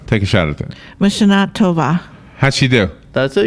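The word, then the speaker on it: לשנה טובה: L'Shana Tova. Robin, take a shot at that. Mashana Tova.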